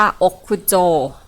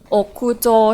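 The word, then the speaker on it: 屋上: เลือก ช้อย ดอก ค่ะ คันจิ คำ เนี้ย มัน ออก เสียง ว่า อค คุโจ อก คูโจ ที่ แปล ว่า ดาด ฟ้า ค่ะ โจทย์ ข้อ เนี้ย เขา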